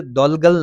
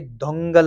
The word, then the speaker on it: Dhaungal: कमजोर राजा के शासन में वजीर दौलगल नहीं है, ये दोंगल होगा।